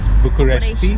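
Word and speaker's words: București: what are the two things you like or love about Bucharesti? Did I say it right? Bucharesti.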